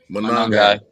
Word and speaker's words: Monangai: And what how you pronounce his name? Kyle Monangai.